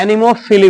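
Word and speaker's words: anemophily: पी एच आई एन पीएच आई एक minute spelling गलती किया पीए आई एल वाई है ठीक है एनीमोफिली बोलते हैं इसको ठीक है माने वायु द्वारा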